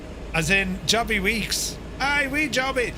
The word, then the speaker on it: Wick: Week is how it's said locally. Aye, just leaving Week.